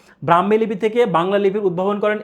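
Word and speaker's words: ঌ: কিন্তু পরবর্তীতে এসে এই 51টি লিপিকে পরবর্তীতে 50টি লিপিতে রূপান্তর করা হয় এবং একটা লিপি বাদ দেওয়া হয়, যেই লিপির নাম ছিল হচ্ছে কি?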